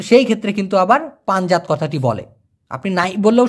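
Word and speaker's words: panjat: সেটা হলো পানজাত। পি এ এন জে এটি উচ্চারণটা হবে পান জাত।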